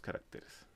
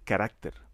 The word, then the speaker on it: carácter: tengan 15 o menos caracteres. En este apunte he utilizado la palabra "caracter" que está mal pronunciado, lo correcto es decir "carácter"; un carácter, para este